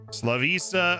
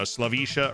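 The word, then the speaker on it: Slaviša: two right wing backs slavisa eradovich beautiful welcome to the team slavisa it's lavisha sorry i'm learning they got the pronunciation down though slavisha oradovich we compare him to myrnas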